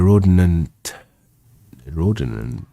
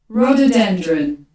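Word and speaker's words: rhododendron: servants bring some in a basket to the Rodin Roden walk okay that's a weird word see what's pronounced it's a plant yeah rododendron rododendron all right to the rododendron walk rendr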